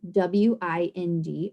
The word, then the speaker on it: wind: closed syllable weld rule where i is going to say its name so then in case this word would be wind now remember we also had a sight word w-i-n-d a high-frequency word and